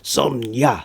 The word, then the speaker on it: Sonja: people of barbaric tongues like Conan himself still pronounce it with a Y they're chanting Sona Sona Sona cuz they